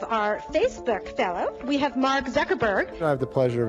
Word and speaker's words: Mark Zuckerberg: the people you just say your name and pronounce it so nobody messes it up and they have it on tape sure it's Mark Zuckerberg it was not crazy somebody was gonna connect